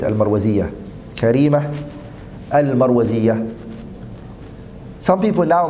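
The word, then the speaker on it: المروزية: Karima was her name, Al-Marwaziyyah. That's the correct way to say it, Al-Marwaziyyah.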